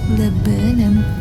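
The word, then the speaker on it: Laburnum: And dito na kami nag-stop sa train station na kung tawagin ay Lebanum. Ganun yung pag-pronounce pala guys.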